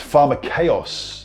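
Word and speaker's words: φαρμακεύς: But if you look at the original language, the koine in Greek, it's actually a word underneath it pronounced pharmakeos, the original Greek word.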